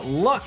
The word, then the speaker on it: Luq: And for Marist, it will be Luck, I believe is how you pronounce his name.